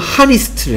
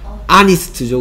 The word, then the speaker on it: honest: 왜 하필이면 하니스트를 했을까? 그치? 왜 하필이면 하니스트를 했을까? 하니스트 맞아요 얘? 발음이? 하니스트 아니지 그치? 발음이 뭐예요? 아니스트죠 그쵸? 쉿!